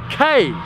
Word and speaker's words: kei: The yellow number plate means it's a K car, and it's pronounced K, not key, okay?